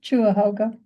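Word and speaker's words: Cuyahoga: pronounce that is it quiz how do you pronounce it the place in Ohio that you're going chuah hoga chuah hoga hog okay yeah it's a it's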